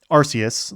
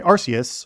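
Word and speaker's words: Arceus: And it's basically you're actually transported from present day back in time by Arus or Archus. Actually, I don't know how you pronounce it, but I I think I tend to say Arus, who is basically God.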